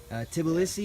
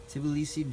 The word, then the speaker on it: Tbilisi: not the Georgia in the deep south, but Tbilisi, is that the way you pronounce it? Tbilisi, Georgia.